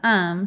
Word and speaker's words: Aum: call the cult um which is AUM but you pronounce it um for short like our filler word um yeah and that's what